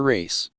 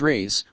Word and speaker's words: rays: it afterwards that it sounded like you should look at your race it can be difficult to get these computer-generated voices to pronounce things properly and in this case what i'd said was rays like r-a-y-s as in whether you're